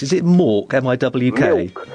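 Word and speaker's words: Miwk: Milk. You have to say it as though you're a small child that can't pronounce the word milk.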